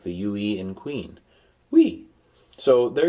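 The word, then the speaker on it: ου: A-E-I-O, there is a O-U, omicron upsilon, that's pronounced U, as in moon.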